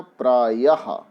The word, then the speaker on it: प्रायः: ये जो विसर्ग होते हैं इनका उच्चारण हा के समान होता है, हा के समान।